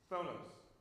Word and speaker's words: phthonos: Phthonos. The ph is silent. I don't know why that is.